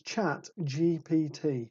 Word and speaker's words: ChatGPT: people say it wrong it's not Jack it's not jat it's not chat it is chat it's chat GPT not GPT I know yeah not GTP I can't even say it